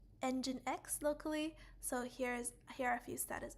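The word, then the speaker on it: nginx: for creating containers and that template is called engine X okay engine x i think when you see this word for the first time maybe engine X is not the intuitive way to pronounce it cuz I I didn't really call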